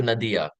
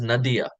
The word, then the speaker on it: Nadia: kha bharati came to Nadia just as a side point it is pronounced as Nadya often times um because